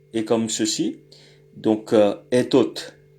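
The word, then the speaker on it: этот: Donc etot, etot. Je vois que l'accent est sur le et donc le o se prononce comme un a faible.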